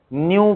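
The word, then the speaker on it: ν: के केस में ना इसको न्यू से डिनोट करते फ्रीक्वेंसी न्यू प्रोनाउंस करते n य न्यू याद रहेगा न्यू बोलते हैं लडा *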